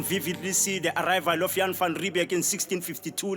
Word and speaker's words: Jan van Riebeeck: things I can vividly see the arrival of Jan van riebeeck in 1652 like eight minutes to five o'clock